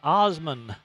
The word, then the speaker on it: Osman: the touchdown on the foury Run by Nick Osman the quarterback for the Panthers pronounced like the Osman family the singers but